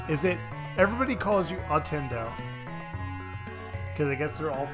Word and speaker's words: Ottendo: Now, grab the word Nintendo. Remove the t on the otter, and remove the nin on the Nintendo. Merge them together, and that's how you pronounce my username.